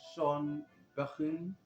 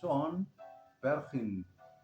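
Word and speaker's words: Sean Bergin: He was with Sean Bechin. Um, I have to apologize for uh, the pronunciation. It's Sean Berchin, tenor and alto saxes.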